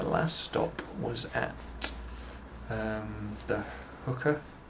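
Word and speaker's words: Huka: And then the last stop was at the Hooker, I think I pronounced it right, H-U-K-A, Hooker Falls, which we were expecting some big impressive thing, but they're actually quite small, just kind of fast flowing.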